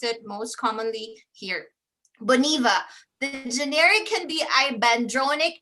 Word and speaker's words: Boniva: not familiar with it we're probably going to pronounce it as bonaiba right americans okay but this one is boniva i talked about hyundai right hyundai in south